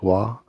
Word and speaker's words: Roy: It is spelt R-O-Y, but it is pronounced Wa.